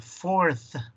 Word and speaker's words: fourth: Y al final, fourth, que se oiga ese th.